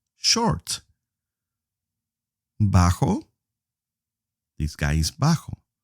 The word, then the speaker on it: bajo: Bajo, this guy is bajo. O baja for a female. Bajo, the J sounds like a H.